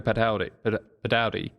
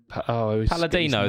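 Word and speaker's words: Palladino: Pino padi. Is that how you say it? What? Pino Paladino, the basist.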